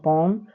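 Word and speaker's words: palm: एल आया है तो एल का उच्चारण हम लोग नहीं करेंगे तो सी ए एम कॉम पी ए एम पम बी ए एम बम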